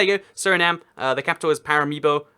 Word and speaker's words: Paramaribo: surname the capital is para me bow or Paramaribo that's the bit that's the correct way to say it as it turns out